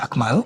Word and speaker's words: Amal: name is a m a l so the pronunciation is akal yes so last time our manager is Shasha